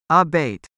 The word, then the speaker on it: abate: Pronounce abate with the stress on the second syllable, abate.